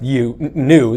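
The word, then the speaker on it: GNU: new and it's pronounced u new the g is silent a new is actually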